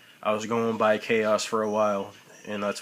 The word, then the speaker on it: Khaos: I was going by Chaos for a while, and that's what a H and a KHAOS. H is silent.